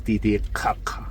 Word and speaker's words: Titicaca: o con la letra K, pero la correcta pronunciación es Titicaca.